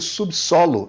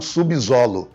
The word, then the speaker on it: subsolo: Da mesma forma como você pronuncia subsolo e não subsolo.